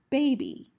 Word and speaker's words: baby: long vowel i sound next we have baby bay b bay we have the a not followed by a consonant sound in that syllable so it makes the a long b here we have the vowel y at the end of the syllable in this case unlike with by b y in baby is spelling b and so the y is acting as a long vowel e sound two other examples we